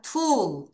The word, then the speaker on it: tool: 도구는 T-O-O-L. 자, O-O가 두 개 있으면 무슨 발음 나요? 우. 자, 따라하세요. tool.